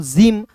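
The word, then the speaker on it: gym: देखिए जी का दोस्तों ज होता है। वाई है तो इ के रूप में उच्चारण करेंगे। एम है तो दोस्तों म होता है।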